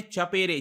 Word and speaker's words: Chapare: जी हाँ, वहां पर इसको चपेरे नाम से प्रोनाउंस करते हैं या फिर चैपर भी आप बुला सकते हो, लेकिन इसका एग्जैक्ट जो प्रोनाउंसिएशन मुझे इंटरनेट पर मिला ये था चपेरे।